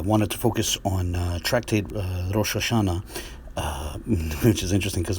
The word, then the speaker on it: Rosh: Rosh is spelled with an Aleph, because it's pronounced Rosh, in the Arabic transliteration, it's transliterated with a Wa.